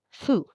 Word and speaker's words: ふ: You're just going to gently blow air through your lips, kind of like you're blowing out a candle, but make sure your top teeth don't touch your bottom lip.